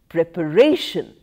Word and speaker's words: preparation: shifts to term similarly prepare second syllable stress shifts to the third syllable preparation pronounce second syllable stress